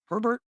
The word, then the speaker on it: Herbert: Herbert. Rhymes with Sherbert.